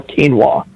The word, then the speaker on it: quinoa: How do you pronounce quinoa? Is what I should have said. How do you pronounce quinoa? Oh, when you read it, it looks just like the way you said it, but it's quinoa.